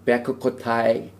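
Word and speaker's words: בחקתי: 그래서 임 베크코타이 텔레쿠 베에츠 미츠포타이 티슈메루 바아시테모탐 이렇게 발음을 합니다.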